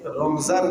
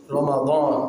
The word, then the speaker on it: রমাদান: আমরা কিন্তু সবাই রমজান বলি, বাংলা উচ্চারণ। আপনি আরবিতে কোরআনে আল্লাহ তাআলা যে শব্দ, যে ভাষা তিনি ব্যবহার করেছেন, রমাদান, কি বলেছেন? সবাই বলি তো আরেকবার, রমাদান। আপনার রমজান না বলে রমাদান বলার চেষ্টা করবে।